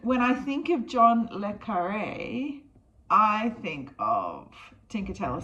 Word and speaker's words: John Le Carré: John Le Carré. John Le Carré, British author. John Le Carré. I was saying it right. when I think of John le Carré, I think of Tinker Tailor Soldier Spy.